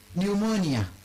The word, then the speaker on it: pneumonia: Pneumonia. What is the use of P? Psalms, what is the use of P? Those are silent letters.